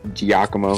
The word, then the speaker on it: Giacomo: him jacko just because giacomo yes i'm like that it's it's spelled um g-i-a-c-m-o i believe is that how it's supposed to be yes giacomo yeah you gotta say the g yeah yeah that's how